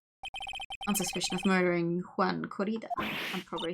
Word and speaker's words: Corrida: You would emphasize the first syllable, Corrida?